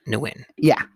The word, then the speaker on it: Nguyen: The G is silent. Nguyen.